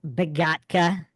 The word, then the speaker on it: Begotka: So, we have a special guest today on Mind Shock here, the one and only Dave Begatka. Did I pronounce that correct? Yes, you did. Beatka.